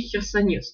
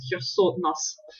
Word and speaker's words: Херсонес: То есть по-дорийски херсонес это как раз херсонас, да, немножко с другим звуком. Выходит, для раннего периода, да, немножко точнее так говорить. Ну, слово херсонес это уже такое более позднее произношение, и оно у нас в науке в итоге закрепилось.